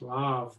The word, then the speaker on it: Le Havre: The H is not pronounced, it's Le Havre, but it doesn't sound great.